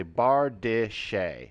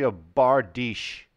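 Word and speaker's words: bardiche: was always called this I would say bar de Shea as if it's some kind of French dish that served with flaming cheese so it's actually a bar dish so it's two syllables so I'll have the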